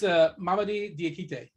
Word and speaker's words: Mamadi Diakite: It's Mamadi Diakite.